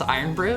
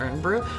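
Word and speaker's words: Irn-Bru: It's pronounced iron brew, not earn brew.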